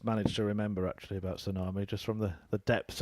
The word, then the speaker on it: tsunami: Within the English language, there are very silent letters. How do you explain the T at the start of tsunami? 95. Well, I can only assume it's not an English word.